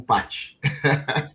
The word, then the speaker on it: Pachi: Eu queria muito saber por que se escreve P-A-C-H-I como Paty.